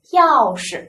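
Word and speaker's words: 钥匙: 我们来读一下，钥匙，一定要记住这个匙是个什么轻声啊，轻声。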